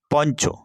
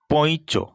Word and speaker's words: পঞ্চ: দন্তন্যর মত উচ্চারিত হয় যেমন পঞ্চ এই শব্দটিকে বিশ্লেষণ করলে আমরা পাই প যুক্ত ইয় যুক্ত চ যুক্ত অ কিন্তু আমরা উচ্চারণ করছি পঞ্চ অর্থাৎ এখানে দন্তন্য ধ্বনির প্রভাব লক্ষ্য করা যাচ্ছে কিন্তু আমরা বলছি না পৈচ ওয় এবং ইয়র যুক্তবর্ণ